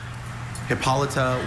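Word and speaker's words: Hippolyta: Hippolita went to Latin from a Greek name. Sure. In DC is the mother queen of the Amazon in marriage to thesis by Hercules. Hippolita went to Latin from a Greek name Hippolita.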